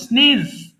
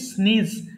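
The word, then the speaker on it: sneeze: ব্যথা হয়েছে এরপর বলেন স্নেজ হাসি হাসিকে আমরা বলছি স্নিজ এটা অনেকে ভুল করে স্নেজ বলে উচ্চারণ হবে এরপর দেখেন মানে হচ্ছে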